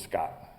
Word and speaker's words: Skat: And in Swedish, the word for treasure is skatt, S-K-A-T-T, and this character's name in the movie is Scott, but it's spelled S-K-A-T.